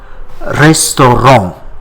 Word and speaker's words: restaurant: The word restaurant in English, we pronounce that T at the end, but whereas the consonant T in French, it is not pronounced.